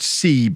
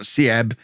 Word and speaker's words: Seb: in midfield i'm told this guy's pronounced seb not siebe so seb uh volso